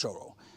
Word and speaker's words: Shorwell: of the vectus trail today I'm starting in choral which is spelled sure well but it's pronounced choral I'm going back to Yarmouth to complete the